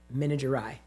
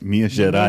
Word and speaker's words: Minas Gerais: Minas Gerais in that area. Yeah. And I was talking about the cheese. I like the way you pronounce Minas Gerais.